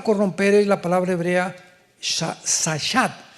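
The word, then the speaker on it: שחת: Esta palabra corromper es la palabra hebrea sachat. Sahat con s de Samuel y ch. Sachat. Sahat se pronuncia, que significa corrupción moral.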